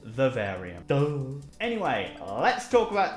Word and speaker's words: Vivarium: when discussing or mentioning this film I said vivarium and the film is pronounced Verve area though anyway let's talk about the film's so